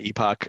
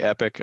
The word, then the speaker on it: Epoch: just search me uh Epoch IT solutions is the way you pronounce my company name some people say epic I know but uh